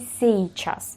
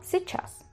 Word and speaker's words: сейчас: Si decir seichas, seichas no existe, sino se chass. Se chas, se chas, se chas. Se puede hacer una pronunciación si ya tenéis dominado mucho el ruso. Podéis pronunciarlo como los nativos a nivel de una i y una, o sea, una e y una i.